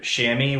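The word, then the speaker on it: chamois: to use the C the keyword shammy which is spelled c h m o i s and then also hunting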